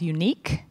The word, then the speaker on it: UniK: There is a project, a Linux Foundation project called Unique, UNIK, or UN. It's spelled in a funny way, but it's a unikernel generator project.